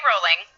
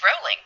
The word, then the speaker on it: Rowling: No, my son and I watched a thing of her life or whatever, and we were both like, oh, it's rolling, not rowling.